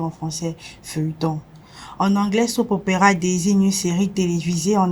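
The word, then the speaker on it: soap opera: nous allons découvrir unepression qui se prononce SOP Opera pour dire en français feuilleton en anglais SOP Opera désigne une série télévisée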